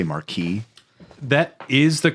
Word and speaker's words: Marquis: want to say I keep wanting to say Marquee that is the correct pronunciation many times Marquis is a pronunciation in some areas see that